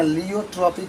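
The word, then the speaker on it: pleiotropy: अंग्रेजी में देखें ना, लियोट्रॉपी कहा जाता है। पी आपका साइलेंट हो जाता है, पी आपका साइलेंट हो जाता है, लियोट्रॉपी इसको कहा जाता है।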